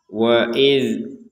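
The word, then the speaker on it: وَإِذْ: Huruf zal sukunnya jangan dipantulkan. Jadi waid qala jangan waid waid. Karena huruf dal ini bukan huruf yang harus dipantulkan ya.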